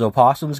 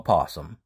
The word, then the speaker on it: opossum: saying the word opossum you can pronounce the o or not pronounce it because many people pronounce it without the O it's still acceptable to call them a possum even though technically an